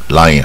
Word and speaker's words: lion: 则，Lion 啊，不要念成 Leon 或者 Leon 啊，因为英